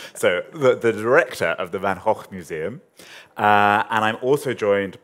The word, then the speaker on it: Van Gogh: The Van Gogh Museum, I'll pronounce it in the Dutch way, but Van Gogh is fine, Van Gogh is fine, Van Gogh is fine.